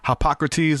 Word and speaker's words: Hippocrates: The Hippocrates, that is how you say his name.